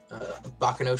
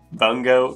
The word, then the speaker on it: Bungo: Bacano Stray Dogs? Bungo Stray Dogs?